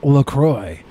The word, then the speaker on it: LaCroix: you pronounce the name of the drink it's pronounced Lacroix O'Shea can't be right not it well it's in French it's Lacroix okay but this is a company that noses